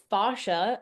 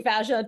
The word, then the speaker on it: fascia: Yeah, I used to say fascia, and then my Fascia. dad, who's a doctor, corrected me and he said it's fascia.